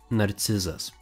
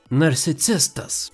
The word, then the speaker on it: narcizas: The correct pronunciation of this word is narcizas, or for woman, narcizė. Typical Vilnius version is narcisistas, and for woman, narcisistė.